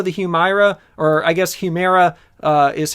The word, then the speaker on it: Humira: Also, the Humira, or I guess Humira, is how you say it, patent is going